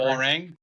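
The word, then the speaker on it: Hwoarang: one guy's name I never know how to pronounce how wrong or whatever howang thank you and then uh if I wanted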